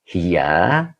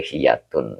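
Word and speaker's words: هي: Bacanya hiya. Tidak boleh hiyatun ya.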